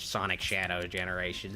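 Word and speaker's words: Sonic X Shadow Generations: I guess it's supposed to be pronounced Sonic Shadow Generations.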